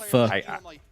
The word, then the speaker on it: pho: Some good or pho.